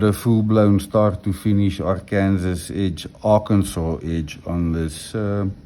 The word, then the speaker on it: Arkansas: I've been told that it's not Arkansas. Yes, I know it's pronounced Arkansas, but I don't see any saw in there, so in any case,